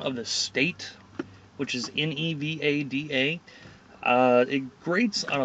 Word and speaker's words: Nevada: damn it's getting hot i can't stand it when people call it nevada it's nevada we even have license plates that have the pronunciation things over the different letters so that you know how to pronounce it but it is nevada okay anybody watching this if you're gonna say anything about the state of nevada it's nevada not nevada or nevada just annoying um hopefully